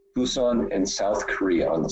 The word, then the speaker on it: Busan: Monday to go to it's pronounced Busan Busan and South Korea on